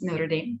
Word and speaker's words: Notre Dame: University of Notre Dame, which in the US you pronounce is Notre Dame, the University of Notre Dame.